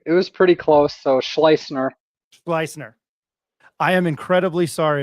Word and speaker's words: Schleusner: He is UNM offensive co coordinator Luke Schlloer.